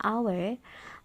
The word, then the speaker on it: hour: Jadi kan ada jam itu hour ya tulisannya, tapi walaupun H itu adalah huruf konsonan tapi dibacanya hour, maka dia tetap berdampingan dengan an.